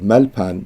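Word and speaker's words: ܡܠܦܢܝ: So he said malpan because that yud is silent.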